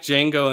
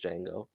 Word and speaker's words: Django: he does he knows django and it's the part where the guy asks him ask django if he knows how to spell his name and he goes d-j-a-n-g-o the j is silent and then franco goes